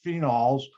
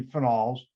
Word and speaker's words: phenols: phenols and files now some people pronounce this phenols no that's wrong it should be finals oh i have to